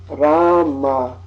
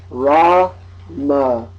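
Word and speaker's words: राम: Technically speaking, this word would always be pronounced Rama, Rama. But in the north of India, they just say Ram, Ram. In the south of India, they say the full original Sanskrit pronunciation, Rama. So that's why you'll hear sometimes it pronounced Rama and sometimes Ram.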